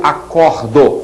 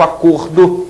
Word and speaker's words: acordo: Então, o substantivo acordo tem um som fechado, o verbo acordo que tem um som aberto, portanto a pronúncia é diferente, mas eles se escrevem da mesma maneira.